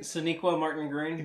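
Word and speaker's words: Sonequa Martin-Green: Sonequa Martin Green.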